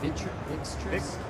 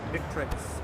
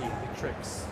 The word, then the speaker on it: Victrix: So Vixtrix, how do you say it? Vixtrix? Victrix. V-I-C. V-I-C. Victrix.